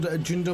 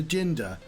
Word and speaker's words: Jinder: And so there used to be signs that say "Don't hinder Jinder," and partly the reason for the sign existing is because Jinder rhymes with hinder, and like some bright